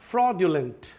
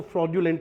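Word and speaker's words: fraudulent: फ्रॉडलेंट है ना? फ्रॉडेंट भी बोलते हैं इसको। फ्रॉडलेंट। लेकिन अपन को इंडिया में इसको फ्रजुलेंट ही बोलना है। ठीक है? फ्रोजुलेंट कुछ लोग इसको ज की आवाज से प्रोनाउंस करते हैं।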